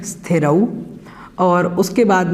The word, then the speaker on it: स्थिरौ: ये नहीं पता, लेकिन ऐसा हम गलती से बोलते हैं पुरानी आदत की वजह से। इसको थोड़ा सा हमें ठीक करना होगा। तो बोलना है हमें स्थिरौ, और उसके बाद में